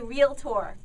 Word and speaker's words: realtor: So you say you are a realtor. What does that mean? Yeah, I have to say it that way because it would drive everybody crazy when people say what. No, it's 2 syllables, not 3. Realtor.